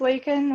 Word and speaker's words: Lakin: Hi, my name's Lakin. It's pronounced Lake and then Got in.